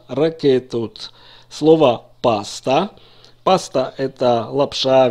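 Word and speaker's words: רקטות: Пиццот, ракета, во множественном числе ракетот, не ракетот, а ракетот.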